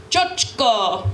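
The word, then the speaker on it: чочко: So repeat after me. It's pronounced chochko. Chochko. Chochko. Chochko. Okay, remember that, because that is the one word I will pop quiz you on at the end, is chochko.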